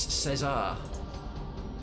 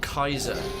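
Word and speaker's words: Caesar: skill comes from apparently mr julius cesar or kaiser i think that's how the romans actually pronounced it there we go let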